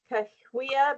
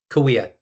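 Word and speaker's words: Cahuilla: Is that uh All right, help me say this right. Cahuya. Pardon me. Did I say it right? Kahuya Band of Indians. Kawia. Kawia. Thank you. Thank you. Kawia is beautiful.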